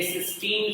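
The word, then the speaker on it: cysteine: ये सिस्टीन pronunciate होता है और ये सिस्टाइन।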